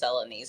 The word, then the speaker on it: Celanese: And just to let you know, it's pronounced Celanese.